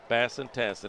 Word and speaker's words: Tassin: Tassin. It rhymes with Bassin.